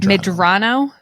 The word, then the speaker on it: Medrano: do you say your last name madrano m madrano madrano yeah say something from your heart because